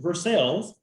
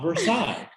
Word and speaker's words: Versailles: look county and grew up in versailles not versailles um even though that's how waze will pronounce it or it is your driving direction uh gps apps that you may be using and instead of athens which we said earlier we actually say athens uh you may end